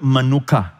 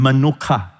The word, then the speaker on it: menuchah: And the word rest here is actually the word manuka. It helps you to remember the manuka honey. All right, same pronunciation, manuka. All right, manuka.